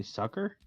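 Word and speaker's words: succor: what sorry what did did you say sucker respite s-u-c-d-o-r sorry yeah i looked it up and that's how you say it something well i was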